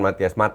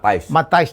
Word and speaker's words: Matthijs: Coach, Matthias de Ligt akhirnya Matthijs bacanya ya? Ya, bukan Matthias, Matthijs de Ligt.